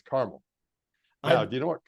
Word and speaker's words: Carmel: should be pronounced it's not like some odd pronunciation it's caramel now do you know what caramel is also